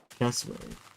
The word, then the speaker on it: cassowary: Cassowary. And I definitely butchered that name.